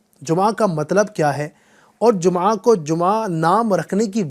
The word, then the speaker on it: جمعہ: جمعہ بولتے ہیں یا جمعہ بولتے ہیں، تو نہ جمعہ ہے نہ جمعہ ہے بلکہ جمعہ۔ اصل جو لفظ ہے تلفظ کا خیال رکھتے ہوئے اگر میں اس کی بات کروں تو وہ ہے اصل میں جمعہ۔ اس کا مطلب کیا